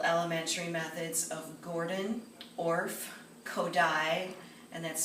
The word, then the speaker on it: Kodály: The traditional elementary methods of Gordon, Orff, Kodály, and that's spelled K-O-D-A-L-Y, and Dalcroze remain a mainstay in American education, regardless of this repertoire's minimal presence in musical pop culture.